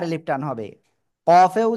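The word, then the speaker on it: ق: কফেও 4 এলিফ টান হবে, হ্যাঁ। এই অক্ষরটা আমরা উচ্চারণ করব জিহ্বার গোড়া, গোড়া থেকে একটু আগে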